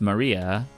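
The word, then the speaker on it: 真里亞: Of course, that is pronounced Maria.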